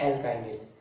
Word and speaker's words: एल्काइनिल: दोनों वर्डों की प्रोनाउंसिएशन में डिफरेंस है, एल्किनिल एंड एल्काइनिल। क्लियर।